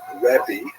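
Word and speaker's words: רבי: uh in Israel the the term used at late antiquity was rebi that's the actual pronunciation which means my greatness my large which is translated to the my teacher.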